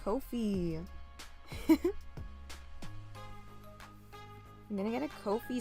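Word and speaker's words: Ko-fi: even more confused wait is the O pronounced like oh or ah that's my question to you because sometimes always pronounced like oh okay no feet Kofi oh my God copy love it oh my gosh I got it guys it's Kofi I'm gonna get a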